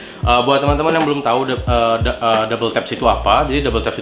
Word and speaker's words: WTAPS: Jadi dibacanya Double Taps ya. Jadi si Tetsu ini membaca brand itu adalah Double Taps, bukan W Taps gitu.